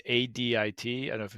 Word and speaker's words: adit: the purposes of access is called and it's Adit I don't know if it's ad addit so I like that interesting uh that is how it's pronounced yeah add it addit yep uh so Latin FR adius uh here